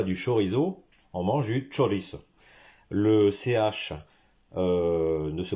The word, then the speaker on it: chorizo: ne mange pas du chorizo on mange du choris le ch euh ne se prononce pas en espagnol comme en français en